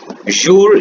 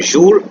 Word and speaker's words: jour: माते means morning, MATIN, माते, pronunciation is माते एंड इट is morning. जूर, JOUR, जूर, जूर means day.